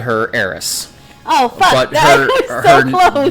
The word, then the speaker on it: Aerith: It's weird because in this version, it's Eris. Okay. But there was like a translation issue, and they changed it to what the Japanese pronounce, which is Aerith with a TH. But the problem is that they're wrong, and it actually it's because they can't pronounce S or something. Okay. Yeah. So they spell it phonetically.